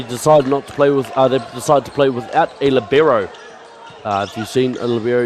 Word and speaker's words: libero: There's a lot of ways to pronounce that word. It is an Italian word, L-I-B-E-R-O, libero. Heard of a lot of interesting ways it's been pronounced as well.